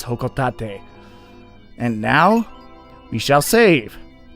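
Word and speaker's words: Hocotate: explore tomorrow and yes but its whole co-taught a not hoe coat eight that's what a lot of people think including myself once upon a time but the official pronunciation as according to Japan Nintendo of Japan is Ho cough that day and now we shall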